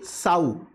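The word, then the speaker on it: Tsao: दूसरे हैं चाइनीज लोग चाइनीज कॉल्ड एलगी साऊ और उसमें टी साइलेंट है यह लोग एलगी को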